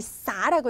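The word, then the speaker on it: 洒: 할게요 우선요 단어를 보면 학생들이 어 이게 술 주자로 착각을 많이 하는데 그렇지 않습니다 여기서는 우리 싸라고 읽으셔야 돼요 싸 싸는 얘가 동사로서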